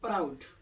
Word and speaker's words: proud: PROUD आ गया तो हम लोग प्राउड, प्राउड कैसे, PR से प्रो, ओ से मतलब आउ हो गया, यहाँ पर प्राउड हो गया।